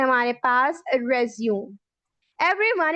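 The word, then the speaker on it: résumé: ठीक है, इसके बाद एक वर्ड मौजूद है हमारे पास रेज्यूम। एवरीवन, इसकी प्रोनाउंसिएशन रेज्यूम नहीं होती, इसकी प्रोनाउंसिएशन रेज्यूमे।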